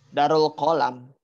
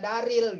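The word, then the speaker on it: دار القلم: Darul Qalam. Iya, jangan dibaca Daril gitu sih.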